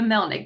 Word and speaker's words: Melnik: I was like, I forget how to pronounce it. The Melnik, the Liberian Melnik.